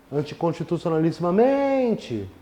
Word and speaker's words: anticonstitucionalissimamente: E a palavra anticonstitucionalissimamente é paroxítona. Sílaba tônica está aqui. Anticonstitucionalissimamente.